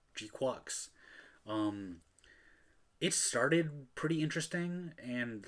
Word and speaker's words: GQuuuuuuX: And they outright pronounce it Jaqueeks.